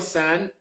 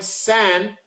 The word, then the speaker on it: san: But when I looked it up at the time, San, which people say son all the time, Daniel San, Daniel San.